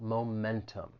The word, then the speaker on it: momentum: or to lose momentum the word has three syllables the stress is on that second syllable momentum now one thing I'll say and this is really about the American accent sometimes when the T follows an n Sound it may allide and it gets removed and this happens with